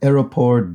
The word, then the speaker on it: aéroport: Here we have Aéroport d'Orly is one of the French airports near Paris. Orly Airport. Aéroport d'Orly, my terrible pronunciation. I always struggle with this because you have to separately pronounce aéroport.